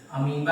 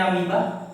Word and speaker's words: अमीबा: Example में अमीबा आ जाएगा। ठीक है? ये लिखते हैं। ऐसे पढ़ते हैं अमीबा।